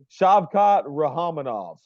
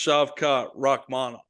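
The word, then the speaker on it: Shavkat Rakhmonov: name Ward URL brother shabot rahaminov I'm taking him he's good close it's shavkat rahmanov rahmanov there we go yeah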